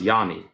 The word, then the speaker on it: Janie: Janie is pronounced Yanni.